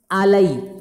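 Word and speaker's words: alley: Idiom क्या है, अप a blind आलई, क्या इसकी बनाएगी, आलई, इसकी बनेगी ये प्रोनाउंसिएशन आली। हमें क्या होता है कि अलाई का होता है जिसका साथ देना होता है, लेकिन ये वर्ड अलग है।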